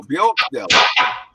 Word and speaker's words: Bjorkdal: Bjorkdal. The Octel. Yeah, just the way it's spelled. Oh, yeah, of course. Yo, Bjorkdal.